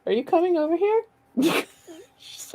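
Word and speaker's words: sidhe: closer you make out the live forms of she warriors and for the record that's how you pronounce the s-i-d-a-g which means fae or fairies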